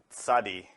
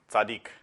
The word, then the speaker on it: Tzadi: all beings be happy the 18th letter of the Hebrew alphabet is called sadi although in modern hebrew most speakers refer to it as Sadiq but in the ancient form is pronounced sadi and the letter makes